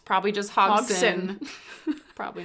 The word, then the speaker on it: Hodgson: the D is silent. It's probably just Hogson.